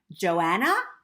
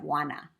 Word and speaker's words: Juana: my teacher took attendance she called out Johanna instead of Juana I wanted to say my name is Juana but my mouth wouldn't